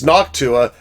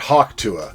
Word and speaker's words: Noctua: killer and number two it's noct Tua not HW Tua so just make sure you pronounce that right I almost said Haw